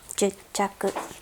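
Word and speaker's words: 十着: Juchaku. So again, the pronunciation, we have a small tsu. Please put a space in between when you pronounce it. Ichaku, hachaku, juchaku. Okay.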